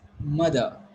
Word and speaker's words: mother: Here you are going to call it mother. So how it is pronounced? It is mother, not r, not mother.